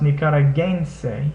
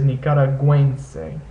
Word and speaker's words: nicaragüense: an umlaut in English, the UE becomes pronounced like it would in words like pueblo, puedo, things like that. So this word is nicaragüense.